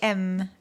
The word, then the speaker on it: faim: But there's no M. Where's the M? We don't pronounce it.